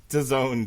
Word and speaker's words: DAZN: DAZN, Jesse. What does it rhyme with? Calzone. That's Sit down, right. Eat a calzone, watch a little DAZN.